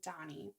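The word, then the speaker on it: Dhani: i'm pronouncing that right it's d-h-a-n-i so i'm thinking donny um george and olivia's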